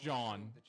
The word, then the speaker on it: Jean: It is pronounced John.